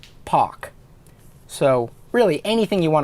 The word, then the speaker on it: Paak: pronounces it Pack, but it's really pronounced Pak.